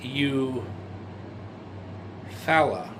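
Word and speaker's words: Eufaula: And around 1990, they lived in Eu Fala or Eufala. It's spelled Eu F A U L A Oklahoma in 1990.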